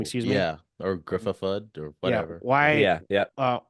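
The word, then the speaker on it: Ioan Gruffudd: Doctor Strange in the Multiverse of Madness is Ian Gruffard. That's how you say his name. Excuse me. Yeah, or Griffithud or whatever.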